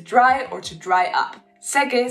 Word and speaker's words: seque: Seque sounds very similar to saque, which comes from the verb sacar. Sacar means to take out, so you have to be careful with your pronunciation.